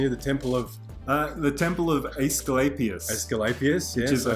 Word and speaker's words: Asclepius: One that Pete might be able to help me with pronunciation here, the temple of Asclepius. Asclepius, yes.